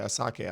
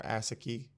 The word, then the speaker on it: Asake: out to Asake or Yeah, Asake, I think that's how you say his name, or Asaki. I think it's Asake.